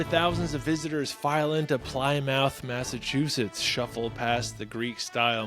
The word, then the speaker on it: Plymouth: And it's pronounced Plymouth.